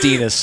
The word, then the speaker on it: Denis: I was going to say that's Denis. Rhymes with penis.